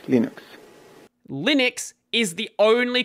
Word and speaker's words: Linux: of the video is how you say Linux pronounce Linux says Linux Linux is the only correct way to pronounce Linux if anyone's saying Linux or anything else like